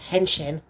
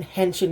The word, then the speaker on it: henshin: say it like that they're just saying henshin but saying henching in it sounds so weird like I seriously guys it sounds so weird to me hang chain does anyone